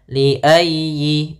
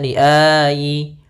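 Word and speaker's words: لِأَيِّ: ujjilatah pada lafal ya tekan ynya liayyi Jangan dibaca liayi atau liayi ah jangan tapi liayyi liayi yaumin kemudian pfal yau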